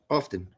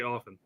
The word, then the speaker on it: often: here dere Derek Derek do you say often or often often I say often well there's a tea